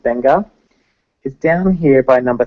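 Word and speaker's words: Beqa: real quick Banger Lagoon b-e-q-a is pronounced benga is down here by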